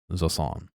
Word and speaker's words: Jusant: is a French word J is pronounced like the English z sound similar to s in